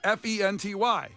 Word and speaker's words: Fenty: It's spelled phonetically. Wait. F E N T Y. Yeah, you're good. Fenty.